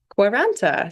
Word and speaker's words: Quaranta: so it's pronounced quaranta is my mother's maiden name it's Slovenian and quaranta is Italian for 40 the number 40 oh what a great